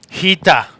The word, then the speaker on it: Rita: She's Rita Peters. Oh, from Portugal. nice. Nice roll. Hita.